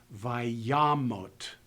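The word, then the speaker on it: וַיָּמָת: So when I pronounce this word, I pronounce it as vayamot, vayamot. Not with any other combination of sounds.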